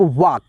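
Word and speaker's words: walk: उसके बाद से यहाँ पे आप देखेंगे डब्ल्यू ए एल की, इसको पढ़ेंगे आप वॉक, एल जो है ना साइलेंट है, वॉक, वॉक मीन्स होता है टहलना, ठीक है दोस्त।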